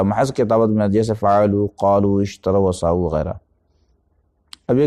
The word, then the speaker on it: قالوا: ہے، جاؤ، باؤ، فاؤ، یا قالو کہتے ہیں تو الف کا تلفظ ہوتا ہے؟ نہیں ہوتا، لکھا جاتا ہے، کتابت میں ثبت